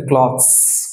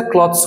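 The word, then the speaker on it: clothes: তো এটাকে বলে থাকি ক্লথস, ক্লথস, ক্লথস। তো এটা ক্লথস হয় না কখনো, এবং এটার উচ্চারণ হবে ক্লোথস, ক্লোথস, ক্লোথস, নট ক্লথস, ক্লোথস, ক্লোথস।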